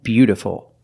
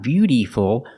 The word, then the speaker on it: beautiful: beauty Beauty and beautiful remember the second word is not beutyful it's a short sound be beautiful beauty is a noun